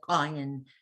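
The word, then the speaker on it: עין: have the ayin, and I believe it used to be pronounced something like this, ayin, with a kind of a funny sound, like some of those African languages. Like, anyone remember the name Miriam Makeba? Yes. Okay, so she had a special, like a Finger. It clicked. kind of a click sound. Yeah. Yeah, okay, so that ayin, we don't pronounce it like that anymore, but it once was pronounced like that.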